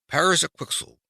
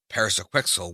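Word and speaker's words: Pyrzqxgl: to become a walnut Paris a quickel he said aloud but he did not pronounce the magic word in quite the right way and rug's form did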